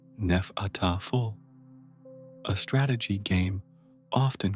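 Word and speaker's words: Hnefatafl: The most prominent Viking board game was Hanfataful, roughly pronounced Nefataful, a strategy game often called Viking chess.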